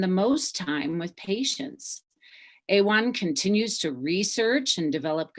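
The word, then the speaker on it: AWHONN: of women's health obstetric and neonatal nurses or a1 as we pronounce our acronym about 700 women die each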